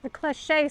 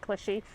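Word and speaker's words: cliché: You know, all the clich cliche stuff. It's not clushy. Cliche, right? Is that how you say it? Cliche. Yes. Yes.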